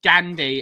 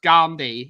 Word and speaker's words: Gandhi: I hate it when people say Gandhi. It's pronounced Gandhi.